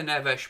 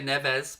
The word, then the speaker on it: Neves: scored so long yes i do say neveresh mate because that's i believe how it's pronounced in portuguese i believe i could say neves but that's not how it's pronounced as far as i'm aware plus i'm well known